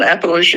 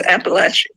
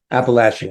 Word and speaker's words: Appalachia: captured the spirit of Appalachia and the spirit of America in her wonderful, wonderful book. By the way, it's not Appalachia, it's Appalachia. Appalachia.